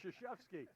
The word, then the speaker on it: Krzyzewski: Because I can't even pronounce that. It's Krzyzewski.